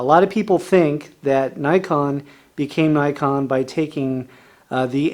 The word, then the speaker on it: Nikon: From the legend that is Nikon comes the new Nikon EM. Automatic one touch from Nikon. And don't forget this. Thank you for calling Nikon.